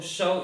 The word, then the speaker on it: shove: इसका प्रोनाउंसिएशन क्या होता है? इसका प्रोनाउंसिएशन होता है हमारा, जब कोई डेड बॉडी होती है तो उसको शव बोलते हैं, तो शव इसका प्रोनाउंसिएशन होता है। The pronunciation of this word is शव।